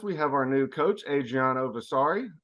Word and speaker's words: Adriano Versari: have our new coach Adriana vasari pronounced like Versace but for sorry is